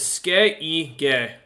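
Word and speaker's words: skygge: But apparently, it means or it's pronounced as Skeige.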